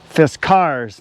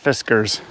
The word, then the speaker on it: Fiskars: is is excellent and it is pronounced fist cars not fiskers x27 beautiful machine i